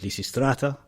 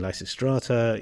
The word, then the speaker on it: Lysistrata: would say it so in ancient Greek you have What's called the pitch hacks and the voice goes up in pitch in this particular case on the penala syllable so Lucy Strate your voice goes up on the a umate but this then becomes a dynamic accent in modern Greek listata so you hear people saying lysistrata you hear people saying